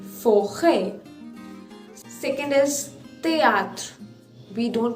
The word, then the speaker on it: forêt: Now when it comes to the letter E, it is pronounced as A. For example, forêt, F-O-R-E with circumflex, T, forêt.